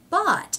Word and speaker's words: bought: Thought becomes bought, and that is how that word is pronounced.